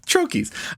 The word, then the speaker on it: troche: It's from a troche.